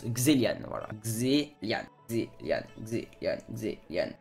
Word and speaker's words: Kzelian: mais ça se prononce xelian voilà Xian Xian Xian Xian pas caséan xéian xelian x non xelian Xan vous imaginez que sur le e il y a un accent aigu et que il y